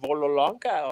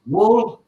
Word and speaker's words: Wollongong: Is it Vololonga or something like that? Wollongong. Wollongong. Wollongong.